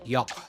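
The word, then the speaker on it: yogh: I know you're mostly just memeing, but yoch and 3 are different. Super different. Yoch got used in a lot of different ways, but the most important one is that voiceless velar fricative.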